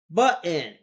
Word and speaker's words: button: Button is not pronounced button. Button. There. There are two T's in the middle. Pronounce them.